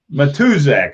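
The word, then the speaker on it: Matuszak: Mutazak? Is that how you say that? Matuzak, okay, and yep.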